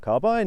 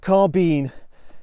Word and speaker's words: carbine: YouTube videos from gun guys, because growing up it was always an M1 carbine or a number 5 jungle carbine or whatever.